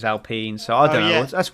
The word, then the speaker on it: Alpine: It's spelled Alpine, but the French pronunciation is Alpine.